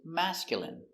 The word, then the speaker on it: masculine: Stress on the first syllable, mask.